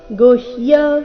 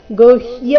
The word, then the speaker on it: ಗುಹ್ಯ: ಮದನುಗ್ರಹಾಯ ಪರಮಂ ಗುಹ್ಯ ಮಧ್ಯಾತ್ಮ ಗುಹ್ಯ ಗು ನಂತರ ಹ ಅಧಿಕ ಯ ಸೇರಿ ಸಂಯುಕ್ತಕ್ಷರ ಗುಹ್ಯ ಮಧ್ಯ ಆತ್ಮ ಸಂಜಿತಂ ಅಥವಾ